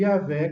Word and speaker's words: Yahvé: 1100, e então argumenta a favor de Yahvé como sendo a pronúncia correta e original. O referido dicionário ainda oferece Yavá como pronúncia melhor do que Yahvé.